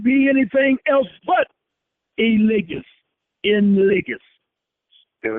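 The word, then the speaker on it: legis: Well, let me spell it first. It's a two-word definition. ENS, one word, LIGIS. It's ligus.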